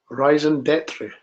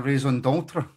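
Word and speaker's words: raison d'être: This is our Rising Detry. Oh, no. John's lost me. Is it not a raison d'etre?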